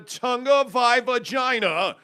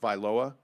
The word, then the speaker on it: Tagovailoa: But from what the reports are now, Brian Flores and Tua Tagovailoa, or excuse me, I think it's pronounced Vailoa. I could be wrong. Tua Tagovailoa and Brian Flores had a huge fight.